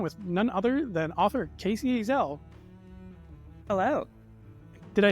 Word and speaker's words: Kacey Ezell: be sitting down with none other than author Casey AEL hello did I say that your name right